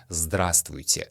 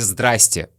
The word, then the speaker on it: здравствуйте: Чаще всего на улице, в магазине, в офисе, в транспорте вы услышите «здрасте».